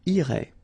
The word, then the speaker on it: irait: And then, il, masculine form, irait, final T not pronounced. So what you can see is that these form, and this form are actually pronounced the same way.